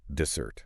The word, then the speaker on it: dessert: And the stress here is on the end. Dessert.